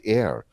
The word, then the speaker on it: Eir: heir e-i-r-s how how you spell her name pronounced air when you call on to her you can